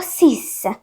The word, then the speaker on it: six: बट ये जो है ये है फ्रेंच, तो इसको लिखते तो SIX ही है, बट बोला जाता है इसको सीस, ठीक है, ये ध्यान रखना।